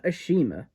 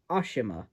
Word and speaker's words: Ashima: For one thing, they start referring to her as Ashima instead of Ashima, which apparently Ashima is the correct way to say her name, but I'm very used